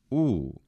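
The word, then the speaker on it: ου: That is not a diphthong in classical Greek, in classical Attic. It is simply U. So it's a closed vowel, similar to German Sohn or Italian sole.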